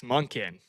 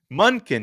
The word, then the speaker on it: Monken: I want you to picture Munkin. I know how it's spelled, but picture it being spelled Munken, and say with me, two parts here. You're such an ass, Monken. Munkin. Yes, there we go.